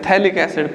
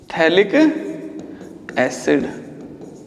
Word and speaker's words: थैलिक एसिड: रखना बहुत इंपॉर्टेंट है, थैलिक एसिड, पी साइलेंट होता है इसमें, थैलिक एसिड।